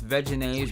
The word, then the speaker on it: Vegenaise: vegan vegan mayonnaise and it's vegenaise but I always pronounce it vegenaise so definitely any supporters